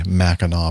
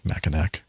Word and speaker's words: Mackinac: more information about the mackinaw bridge i'll never ever pronounce it mackinac liz how are we